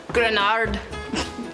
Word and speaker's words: Gruinard: Gruinard. I think I have to say it like a Scottish person would. Gruinard.